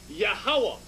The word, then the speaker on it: Yahawah: pronounce these four characters yahawah a three-syllable sound you connect the last two characters connect the last two